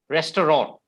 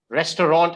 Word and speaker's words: restaurant: how you pronounce it it's because of the hindi pronunciation or the regional languages pronunciation that we pronounce it like that but the correct pronunciation